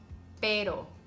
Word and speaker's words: pero: soft R in Spanish la ere like in the words better water little Betty better pero it's the same sound but anyways you don't